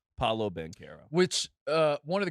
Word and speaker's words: Paolo Banchero: year to figure out how to pronounce paulo ben carroll so the fact that we finally had the full culmination moment of him saying his own name paulo bankera which uh one of